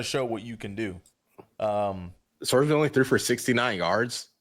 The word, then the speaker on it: Sorsby: I mean, obviously they competed with Nebraska, and Sorbsby, or how you pronounce it? Brennan Sorsby. Yeah, Sorsby.